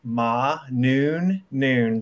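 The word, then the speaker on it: Mana: It's M-A-N-A. So ma noon, just like 12 o'clock.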